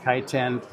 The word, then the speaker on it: Kaiten: well the title of the book is called kiteen that is a correct way to pronounce it in English kiten the meaning of the word kiten in the